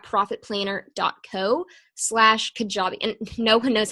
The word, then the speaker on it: Kajabi: planner dot Co slash kajabi and know who knows how to spell that so it is kaj ABI so like catch I buy that out I mean